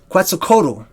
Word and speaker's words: Quetzalcoatl: the heavens the prefix ATL also is a suffix of Quetzalcoatl quite so koto is how most people say Quetzalcoatl is the basically one